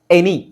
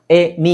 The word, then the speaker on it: any: ಎ ಅಂತ ಹೇಳಿದಾಗ ಕೆಲವು ಕಡೆ, ಜಾಸ್ತಿ ಅಲ್ಲ, ಇಲ್ಲಿ ನೋಡಿ, ಎನಿ, ಎ ನೀ ಅಂತಿದೆಯಾ, ಇದೀಗ ಎ ಬಂದಿದೆಯಾ, ಇಲ್ಲಿ ಉಚ್ಚಾರಣೆ ಏನು? ಎನಿ.